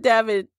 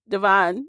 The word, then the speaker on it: Devon: So after she found the connection, she was like, tell it, Devin. Devon. I keep saying Devin. Because you said Devin.